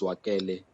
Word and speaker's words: Zwakele: review us and also the correction my name is joakele just to correct the pronunciation of my name um look um I